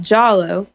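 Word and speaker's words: giallo: an italian kind of a sub genre called jollo spell it for people it's g i a l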